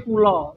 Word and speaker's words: kula: Nah, ini KULA aku. Bacanya tapi kulo, tetap kulo gitu.